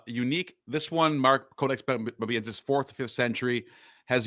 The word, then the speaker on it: Bobiensis: How do you pronounce this? Bobiensis?